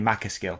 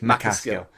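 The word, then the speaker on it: MacAskill: I say Danny McCaskill, but it's McCaskill.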